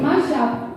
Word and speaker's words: mashup: Se dice mashup y viene de mano de los alumnos de cuarto de la ESO A.